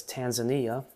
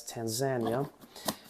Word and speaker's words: Tanzania: Bright Lights long daylight hours they hail from Tanzania which is commonly mispronounced as Tanzania so keep that in mind that's referred to as Tanzania and they only entered cultivation either in the